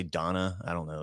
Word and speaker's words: Dana: Dana Bash. It's spelled Dana, but I think they all say Donna.